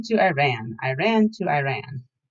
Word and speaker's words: Iran: Often kids tried to be funny by chanting, "I ran to Iran, I ran to Iran." The correct pronunciation, I always informed them, is Iran. "I ran" is a sentence, I told them, as in I ran away from my geography lesson.